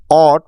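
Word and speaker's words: ought: এই পাঁচটি লেটার কে একসাথে পাই তাহলে সেটি অট সাউন্ড ক্রিয়েট করবে দেখো এতগুলো বর্ণের সাউন্ড কত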